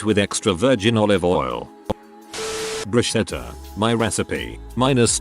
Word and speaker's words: bruschetta: Make sure you pronounce it with a hard ch too. Bruschetta.